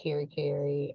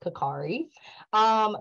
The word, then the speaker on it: Karkare: I'm happy to jump in, and I'll just, so Dr. Karkare, that's how you pronounce my last name. I just like to let people know my husband's from Ghana. I know it looks like Kerry Kerry, but it's pronounced Karkare.